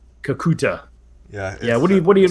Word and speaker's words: Kakuta: know anything about uh kakuka how do you pronounce it again how what' you say kakuta kakuta yeah do you called the T at the